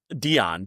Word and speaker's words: Dyon: How do you pronounce your last name? Dion.